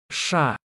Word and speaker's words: Ш: Let's see their pronunciation one more time. Ша.